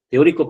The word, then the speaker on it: teórico: Te es una sílaba, o, otra, tri, otra, y co, otra. No es teo. Teo no va junto. Son dos vocales fuertes.